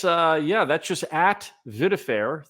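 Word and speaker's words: Vidfair: so that's that's uh yeah that's just at viair it's eight letters you can say VA if you want VI D then F AI r as in fairness I pronounce it viair but it's just VI da F air so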